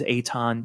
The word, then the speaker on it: Eithan: name's kind of odd they know me as Aon even though it's spelled Ethan so you know the